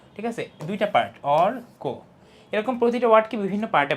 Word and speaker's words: অর্ক: দেখো শব্দটা আমি যত জোর দিয়ে বলি অর্ক, কোটা কিন্তু আস্তে, ঠিক আছে? কোর সিলাবলটা উইক, আর অরটা অনেক স্ট্রং, অর্ক, ঠিক আছে? দুইটা পার্ট, অর্ক।